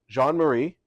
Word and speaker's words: Jean Marie: GNA leave that in I am joined by John Marie yes did I pronounce it correctly yes you did uh please